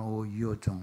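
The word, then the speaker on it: 吳耀宗: 창시자 오요종. 오요종이라는 사람은 영어로는 오노종. 이게 근데 중국 발음은 오유종 이렇게 하네.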